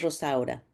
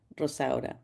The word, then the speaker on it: Rosaura: conoce como Rosa, porque al principio nadie podía pronunciar su nombre, de verdad. Y su nombre real es Rosaura. Rosaura.